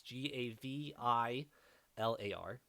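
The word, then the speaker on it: Gavilar: the last name correct the first name is slightly different but you got most of it it's Gav I lar gavel r.j Gavin why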